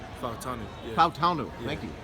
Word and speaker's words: Fautanu: Fautanu.